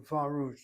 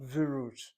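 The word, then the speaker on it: וָרוּת: Notice how I'm saying Varut, not Virut. The word root is monosyllabic. Accent is on that monosyllabic word. The vav is pointed with a kamatz.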